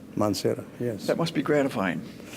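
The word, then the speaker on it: Mansehra: if I'm saying it right, Hazara University in Montserrat. Mansera, yes.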